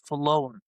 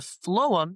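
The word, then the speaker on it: phloem: So the wood layer rather the layer that's closest to the wood is called the phum. And a pheum is spelled P H L O E M.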